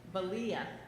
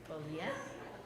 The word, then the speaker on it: Bolia: How do you say your name? Balia. Bolia. Bolia. You should see how it's spelled.